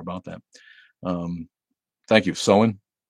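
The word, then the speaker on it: Samhain: should know more about that um thank you so in it's actually pronounced so in or sound thanks for that mad hatter my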